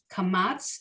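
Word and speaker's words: קמץ: Kamatz is the tiny T. Sounds like Ah, same as the Patach.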